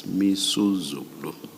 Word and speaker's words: Misuzulu: I mispronounced the king's name. It's Misuzulu.